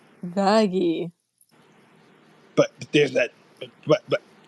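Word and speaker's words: Vaggie: pulled the whole like it's pronounced vaggy wait hold how do you spell that v a g g i e vagy got it no what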